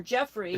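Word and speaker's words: Geoffrey: will probably get it it's Joffrey um or Jeffrey but spelled with a G ch ch is a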